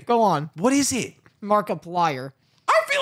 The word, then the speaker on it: Markiplier: Markiplier? Mark Plier?